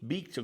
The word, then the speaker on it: Víctor: Uh in Spanish, they would pronounce it Victor. Vic- Victor cuz the V is like a B.